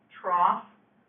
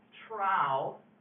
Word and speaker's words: Trough: Yep, it's actually pronounced, I've heard it pronounced 2 ways. Trough, like where pigs eat, yes. Or trow, if you want to sound like, you know, yeah, like a superior, snooty, whatever, science nerd. I don't care what you call it, but I have heard it pronounced trow as well as trough.